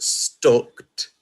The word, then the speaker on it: stooked: Stooked, or as it's pronounced, stucked, is to arrange sheaves in stocks.